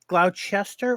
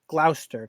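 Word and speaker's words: Gloucester: to look like terrorists is it pronounced gloutch Esther or just Glouster cuz I thought see in their silent it depends ah it's one of those things like if you ask the natives right we Glouster but you ask others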